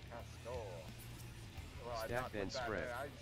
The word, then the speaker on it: castor: Pronounced the same way, like someone would say cast in a really stupid accent, though. Castor. Well, stack then spread. I said it wrong. Support the DPS. Stack. Castor.